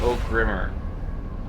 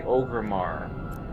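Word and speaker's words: Orgrimmar: I called it O Grimmer. I was like, "Oh, just go to O Grimmer." And I was pronouncing it. It was supposed to be Oramar. I didn't even know that.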